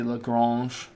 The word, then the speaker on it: Lagrange: Just like with Maclaurin, I try to put an accent on there, this would be Lagrange.